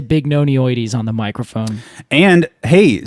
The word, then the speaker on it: bignonioides: Catalpa bignonioides.